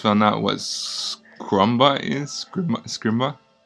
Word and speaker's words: Scrimba: Let's pronounce it correctly. Oh, it's Scrimba, right? Please. Okay. Yeah. It's embarrassing when you can't pronounce it correctly. I know. I'm not going to pronounce it again. So. Well, I did hear you say Scrumba.